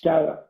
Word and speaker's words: Guerra: Guerra. All right, Guerra, Guerra.